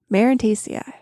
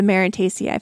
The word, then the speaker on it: Marantaceae: Marantaceae. I had to look up how to pronounce that.